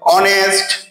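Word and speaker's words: honest: এছাড়া কি এইচ এর উচ্চারণ যদি ও এর মতো উচ্চারিত হয়, অনেস্ট, আওয়ার, এই সমস্ত জিনিসগুলো তার ক্ষেত্রেও কিন্তু অ্যান বসে।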